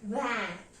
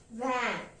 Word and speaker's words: vingt: 20 will be pronounced as vingt. Vingt. Even if the spelling of 20 is V-I-N-G-T, the pronunciation will be vingt.